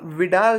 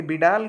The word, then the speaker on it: Vidal: ठीक है, कभी कभी नाम का जो उच्चारण है कोई विडाल, कोई बिडाल, कोई वाइडल पढ़ देता है। तो अब सबका लैंग्वेज अलग अलग होता है, तो उसके अकॉर्डिंग आप अपने तरीके से इसको कर सकते हैं।